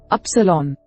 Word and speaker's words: upsilon: Upsilon by itself sounds exactly like eta and iota. In combination with an omicron, makes an oo sound as in the English word lute.